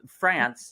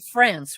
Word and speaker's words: France: about the country basically my name is just like the country so you say France right let's get friends